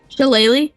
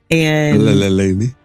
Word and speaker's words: shillelagh: Shillelagh?